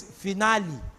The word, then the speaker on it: finale: That thing, if you look at it, you pronounce wrong final. That thing is finale. Grand finale. That's why somebody will say, what's the rationale?